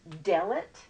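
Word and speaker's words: דלת: worry about it right now anyway this says delat de le t is how it's usually transliterated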